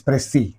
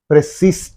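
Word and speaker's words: précis: question and you know very well about this prey prees you should not say but prey that's yes is silent here you have to say prey that's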